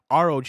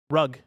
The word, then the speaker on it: ROG: Zackson Galaxian says, "ROG is pronounced like ROG, where you say each letter separately." So, I nailed that Republic of Gamers. Republic of Gamers. If you rug.